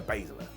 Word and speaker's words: Baszler: well off track here with shotsi versus Shayna basala said it right that time now this did